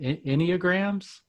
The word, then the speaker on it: Enneagram: One of the other things that you mentioned, I'm not sure if I pronounce it right. Is it enneagrams?